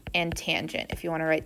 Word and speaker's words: tangent: divided by my radius tangent of theta not tan Theta tangent of theta